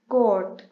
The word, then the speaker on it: coat: Next example अगर देखें, COAT, कोट।